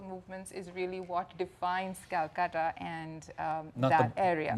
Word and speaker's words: Kolkata: the city of Kolkata which is now called Kolkata because we've all gone back to pronouncing the names in the Indian way and that was the